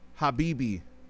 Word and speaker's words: Habibti: So the t is silent. Habibi.